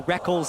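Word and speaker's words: Rekkles: Technically, it is written Reckles. Yeah, it is. You spell it phonetically. All the way back in his first major tournament, IPL 5, the Reckles and Reckless debate was in full swing. I still want to call him Reckles, but I've just gotten so used to calling him Reckless because he says so.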